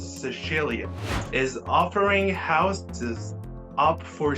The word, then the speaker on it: Sicilia: Listen to this: a town in Italy called Sambuca de Sicilia, and of course the correct pronunciation is Sicilia, is offering houses up for sale on the market for as little as $3 or just above $3.